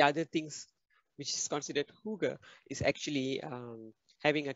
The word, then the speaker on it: hygge: of this word called hygge all right so hygge this is actually a a word that is difficult to pronounce and very difficult to explain all right it's pronounced as huge so hygge means creating